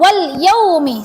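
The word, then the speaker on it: وَالْيَوْمِ: Oh ya, cara bacanya seperti biasa kok. Wal yaumi, seperti itu aja. Wal yaumi, tidak ada harus 2 harokat, 3 harokat dan sebagainya. Seperti biasa pendek.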